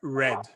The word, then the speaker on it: read: passado ele fica igual escreve igual só muda pronúncia fica Red igual a cor igual a cor vermelha RS ta ahi Direct